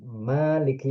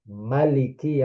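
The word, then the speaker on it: مَالِكِ: dia dibaca satu harakat bukan maiki yaumiddin tapi maliki yaumiddin itu qiraat namanya semuanya diriwayatkan dari Nabi itu wamin kaifiyat taswid.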